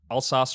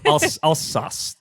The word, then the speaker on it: Alsace: And Elixir hops, which I've never tried, from Comptoir Argerolles in Alsace, France.